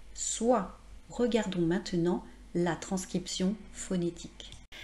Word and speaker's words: soie: Regardons cependant le son la \swa\ Vous voyez il y a bien les lettres o plus i et il y a le E mais on ne dit pas \swa.je\ Encore une fois, j'ai